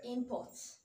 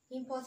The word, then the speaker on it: import: first syllable for example you have something like import import as a noun the stress is going to be on the first level esport as a noun